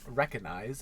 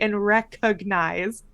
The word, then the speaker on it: recognize: in there but like it's a hard G recognize because it the word the base of the word is like Cog cognition like that's the yeah I